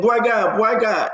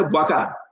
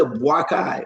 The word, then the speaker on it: Boakai: Yeah, the man, look, anybody that pronounce that name, you must come from Lofa to pronounce that name correctly. Boy guy. We say Boakai. We say Boakai. All his syllables and pronunciation, they are connected.